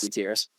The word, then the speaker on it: Gutierrez: Is it Gutierrez? Yes. Gutierrez.